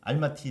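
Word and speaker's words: Almaty: 아마 타 시기에 지금이 공식 지명은 알마티 로마서 1장 할 말이야 알마 타는 러시아 발음이 고 알마티 예 니까 가장 스탄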